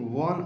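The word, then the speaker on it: one: ए वन sided game शुरू तो ओ से हो रहा है जो कि भवेल है लेकिन इसका उच्चारण जब हम लोग करते हैं तो व की तरह हो जाता है कसनेट की तरह हो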